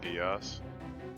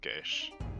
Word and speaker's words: Geass: It's called Code Geass. Yes. It's actually pronounced Gesh. Or Okay. Gesh.